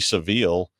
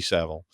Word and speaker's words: Savile: Or acting like Jimmy Seville, but or Savile. I always say it wrong. Jimmy Savile.